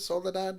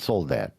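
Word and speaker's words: Soledad: Soladad, right? Yes. Not Soul Dad. No, Soladad.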